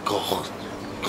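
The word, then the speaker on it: Gordes: 正しい発音はゴーッ、ゴーッだそうです。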